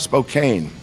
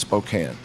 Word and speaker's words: Spokane: It's not Spokane and it's not Gonzaga. It's Gonzaga and it's Spokane.